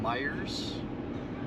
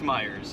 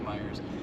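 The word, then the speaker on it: Meijer: We call it Meyers.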